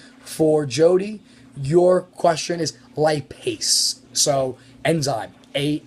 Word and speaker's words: lipase: Jodi your question is lipase so enzyme a s e is how you spell that so it's Li P ASE lipase and so lipid ace lipid